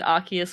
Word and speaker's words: Arceus: day i learned that arceus was pronounced with a hard c and not the soft one this whole time i'm